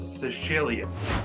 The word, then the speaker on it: Sicilia: Listen to this: a town in Italy called Sambuca de Sicilia, and of course the correct pronunciation is Sicilia, is offering houses up for sale on the market for as little as $3 or just above $3.